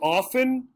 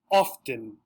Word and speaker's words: often: the other one here notice we have the t symbol which is the set this symbol for the sound that the t usually makes the letter often and that's the only difference so often often again both of